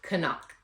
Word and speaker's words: Canuck: So hopefully what they said is correct, and they said it's called Canuck. K sounds on the front and the back.